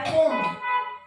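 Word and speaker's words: comb: काकडी त्यानंतर आहे कोम बी चा उच्चार होत नाही कोम ठीक आहे कोम म्हणजे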